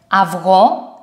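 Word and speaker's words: αυγό: the diphthong have or this one has two pronunciations it depends on what word is in f or for example aftosh this one okay and avro egg another diphthong that has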